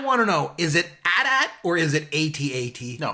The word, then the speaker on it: AT-AT: And he responded to me and he said, no, it's AT-AT. But he said that the reason why it gets confused is, the chicken walkers, like the two-legged ones? The ATST? Yeah, that's pronounced ATST. So right. Then people get thrown in, but the other one is AT-AT, 100%.